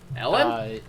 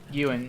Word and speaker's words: Ewan: But it's spelled with a W, so that my brain says it Elwin.